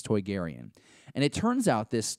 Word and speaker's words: Toydarian: to Jodi Hauser's tweets Toydarian is how you would pronounce this Toydarian and it turns out